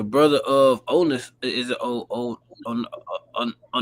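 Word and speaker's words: Onias: Is it Oias? Onas. Yeah. Onas.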